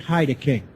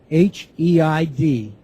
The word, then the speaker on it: Heideking: The author of the book is Jürgen Heideking, obviously German. First name Jürgen, J-U umlaut, R-G-E-N. Last name is spelled Heideking, H-E-I-D-E-K-I-N-G.